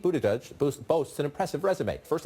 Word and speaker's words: Buttigieg: Best way to pronounce your last name. Buttigieg, but around South Bend, they just call me Mayor Pete, and that's fine with me.